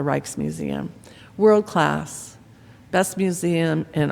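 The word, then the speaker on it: Rijksmuseum: was the reiches museum now it's it's spelled r i j KS so I'm going to call it the reiches museum world class best museum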